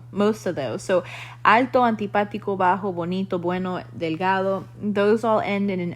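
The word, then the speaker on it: antipático: adjectives so alto alda antipatico which means unpleasant um or antipathica notice that that one has an accent on that uh that second a bajo bonito bueno delgado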